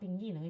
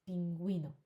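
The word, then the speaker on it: pingüino: So, now it's not pingino, it's pinguino.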